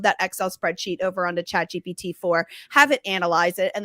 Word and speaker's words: ChatGPT: Is it GBT? Did I say it right? Chat GPT.